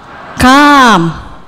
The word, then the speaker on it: calm: Datang itu come-nya A-nya pendek. A-nya gini. Come. Kalau ini A-nya panjang. Come.